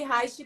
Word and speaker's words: Reiki: O Reiki é R-E-I-K-I. E Reich, que é o sobrenome do William Reich, que é o pai da psicologia corporal, é R-E-I-C-H. Então, a pronúncia é a mesma.